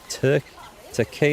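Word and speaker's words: Türkiye: his own Foundry starting tur tea is how you pronounce it that's how we're supposed to call Turkey now right tea base family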